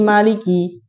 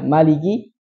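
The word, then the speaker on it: مالك: Ini maliki, hanya panjang. Kalau dia hilangkan, jadi bacanya maliki, termasuk kesalahan jali nggak?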